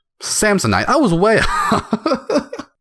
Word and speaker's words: Samhain: Samhain? Samsonite.